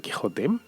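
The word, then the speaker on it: Quixote: la mancha' pero claro con esa equis pronunciada como j porque la equis tenía esa posibilidad en aquel entonces de hecho conoceréis a alguien que se apellide ximénez por ejemplo o lo habréis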